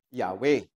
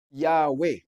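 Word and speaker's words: Yahweh: Four letters Y H W H Ngayon ang pronunciation ng iba ng mga biasa sa Hebrew language is Yahwe. Yan daw po ang tunay na pronunciation.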